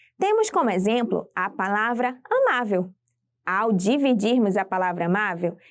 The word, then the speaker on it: amável: EA antepenúltima sílaba a sílaba tônica de amável é a sílaba ma e é a penúltima sílaba da palavra e por isso ela